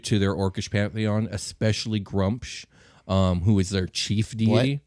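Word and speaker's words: Gruumsh: is their chief da grump scrum shrum sounds like a bad group group pronouncing wrong my whole life that sounds like a mushroom but I'm pretty sure it's grump she has to use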